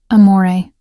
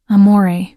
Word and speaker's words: amore: Amore. I said softly, demonstrating the proper pronunciation. The R is barely there. It's more of a suggestion than a sound. Amore.